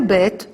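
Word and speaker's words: בית: v v v so when we have the dot inside it's B and when we don't have a dot inside it's V two kinds of pronunciation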